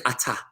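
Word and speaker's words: אתה: So this next word is atah. Starts with an aleph. The aleph is silent. It has no sound of its own.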